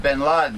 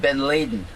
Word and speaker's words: bin Laden: get it they didn't they didn't pronounce it bin laden they said ben laden whatever van laden well